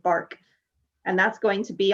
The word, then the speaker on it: BRK: the brioche knit, and they call it a bark, BRK, they pronounce it bark.